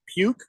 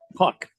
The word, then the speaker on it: Puk: George says, breaking news, AJ Puke and the Arizona Diamondbacks have settled arbitration for a nearly $3 million salary for the 2025 season.